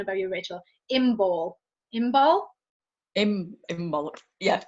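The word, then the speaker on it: Imbolc: Imbal. Yeah. It's spelled with a C on the end, isn't it? But it's silent.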